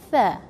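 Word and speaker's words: ث: Common mistake people used to do is they say sa. But it's totally different. Once you pronounce it sa, you will change the meaning of the word. So be careful in this one. Put your tongue out and say tha, tha.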